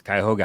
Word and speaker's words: Cuyahoga: dad was the coach did I say it wrong kyoga Heights Cuyahoga Heights yes yes uh Eric Lauer um it's